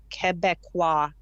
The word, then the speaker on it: Québécois: And I'm calling today just to tell you that Quebecois is how you say it.